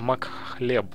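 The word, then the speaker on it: Makhleb: Не Мкалеб, а Макхлеб, на самом деле. Неправильно я его произношу.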